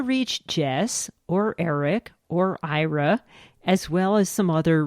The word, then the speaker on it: Aira: is our website can you spell that yes sorry it's a i r a so that's how you say IRA and people do get